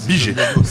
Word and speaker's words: Bigey: Je prononce bien? Biget. Qu'est-ce que j'ai dit? Briget, non, Biget.